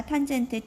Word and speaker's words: tan: 탄젠트 TAN 앞자리 3글자 따고 탄젠트라고 읽어주시면 되겠습니다.